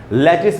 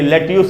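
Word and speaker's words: lettuce: उसके बाद दोस्तों ये सैलड में खाते हैं हरी पत्तियों वाला, गोभी के जैसा, लेटिस बोलना चाहिए, लेट्यूस नहीं, लेटिस, लेटिस सब्जी होते हैं, लेटिस।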